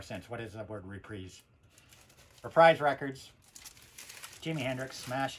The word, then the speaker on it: Reprise: about this yeah but this was on reprise records not reprise everybody I ever knew in my life called this reprise in fact phonetically if you read it it says reap rise rise I don't see anywhere where it says 'is there there's no there's no e in it there's no e sound and the spelling of